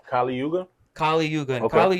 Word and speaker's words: Kali Yuga: And his name is How you say Kali Yuga?